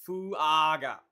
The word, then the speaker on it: Fuaga: Ethan also said it's Fuaga. All right, thanks, Ethan. Fuaga, yeah, okay. Yeah, we were saying it right.